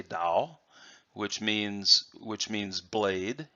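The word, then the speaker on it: 刀: it says pinyin that's the the Chinese pronunciation pronunciation of this character and they would say Tao which means which means blade in fact the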